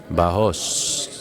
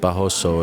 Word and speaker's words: Barros: Barros. It's not Barroso, it's Barros.